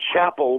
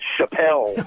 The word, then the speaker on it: Chapel: that came out uh under the name Chapel which is his middle name but we changed the band's name to pile tribe because uh everybody kept pronouncing it Chappelle oh no but so